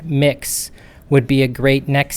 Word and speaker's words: Mx: support for the salutation mx pronounced mix would be a great